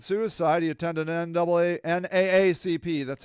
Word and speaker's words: NAACP: before his appearent suicide he attended an NAA NAACP that's how you say it image Award with